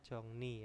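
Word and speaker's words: 정리: di sini ada apa jongri dibacanya jongni ya jongni itu adalah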